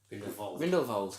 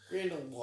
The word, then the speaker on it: Grindelwald: That's what they say it like that in the film. Oh. I was fairly sure it was that. Anyway, but obviously because it's all British and American audiences, they say Grindelwald.